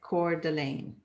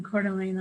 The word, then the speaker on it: Coeur d'Alene: Shelley also has a social media um, summit, uh, social media Coeur d'Alene, right?